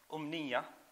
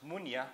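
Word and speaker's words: أمنية: Umniya, or originally pronounced munya, and then it became umniya.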